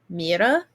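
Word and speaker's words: Moirai: if I'm wrong, but it's spelled Morai, kind of like the queen from the other one, but it's pronounced Mira.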